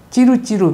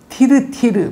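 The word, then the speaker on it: Tyltyl: 혜은이 노래에도 난 뭐 찌루찌루와 밑찌루를 알아요, 뭐 이런 노래가 있는데, 원전에 보면은 티르티르, 미티르입니다. 근데 일본에는 이제 T 발음이 없으니까 요거를 찌루찌루, 미찌루라고 그랬고, 그대로 이제 우리한테 굳어진 게 되겠습니다.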